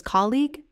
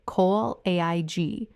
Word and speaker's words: colleague: The stress is on the first syllable, col, and the ending is just a soft, clean e-ig sound.